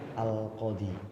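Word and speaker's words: القاضي: Ja'a al-qadi, yang takdirnya harus al-qadiyu, tapi dibaca dikira-kirakan saja, ditakdirkan saja. Jadi bacanya al-qadi.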